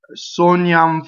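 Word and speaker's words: sognano: So you're going to say sognam forse.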